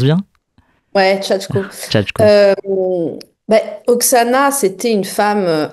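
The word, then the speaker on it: Shachko: Chatko, je le prononce bien. Ouais Chatko.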